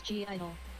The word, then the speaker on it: (G)I-DLE: pronounced as idol but the girls sometimes refer to themselves as g idol as well so either works with their most recent